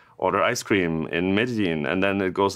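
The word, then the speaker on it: Medellín: So if you build the best ice cream PWA ever in, let's say, Medellin, is that how you That's pronounce right.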